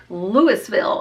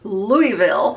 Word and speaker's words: Louisville: and really before that I said Louisville until I was told it was Louisville you said you're still